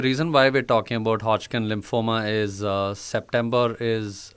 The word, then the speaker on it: Hodgkin: what exactly is this uh hoging lymphoma did I pronounce it right hodkin lymphoma but yeah hodkin lymphoma okay so hodkin lymph lymphoma.